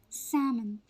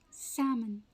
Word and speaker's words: salmon: fruits are tricky because the L is silent in both right salmon salmon the correct way to pronounce this word is salmon salmon a large edible fish